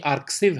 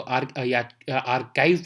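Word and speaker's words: arXiv: आप ची पढ़ोगे तो आर्काइव पढ़ोगे, तो इसलिए आर्काइव इसको जो है वो नाम इसका आर्कसिव लग रहा होगा, लेकिन इसको हम प्रोनाउंस करते हैं आर्काइव।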